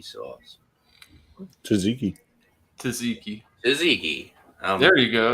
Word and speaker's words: tzatziki: cheers all right what the heck is shots shotsiki sauce Ridge Kentucky with the the Gyros or Euro Euro pronounce it um yeah it's like uh it's like a cucumber del mayo feta cheese fries with jutsiki sauce tzatziki Tzatziki Tzatziki there you go you